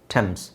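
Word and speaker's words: Thames: many ಅಲ್ಲ many any ಟೆಮ್ಸ್ ಸೊ ಇದನ್ನ ಥೇಮ್ಸ್ ಅಂತ ತುಂಬಾ ಜನ ಮಿಸ್ ಪ್ರೊನೌನ್ಸ್ ಮಾಡ್ತಾರೆ ಥೇಮ್ಸ್ ಇದೊಂದು ನದಿ ಇಂಗ್ಲೆಂಡ್ ಅಲ್ಲಿ ಥೇಮ್ಸ್ ಅಲ್ಲ ಟೆಮ್ಸ್ ಈ ಟಿ ಎಚ್ ಸಹ ನಾವು ಟ ಅಂತ ಹೇಳಬೇಕು ಟೆಮ್ಸ್ ಟೆಮ್ಸ್ ಟೆಮ್ಸ್ ಟ ಆಮ್ಸ್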